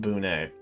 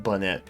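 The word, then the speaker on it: Bunet: It is pronounced Bunay. I still like Bonnet better, so.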